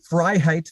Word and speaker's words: Freiheit: you so David say your last name again freiheit phonetically social media YouTube is Viva fry v-i-v-a-f-r-e-i you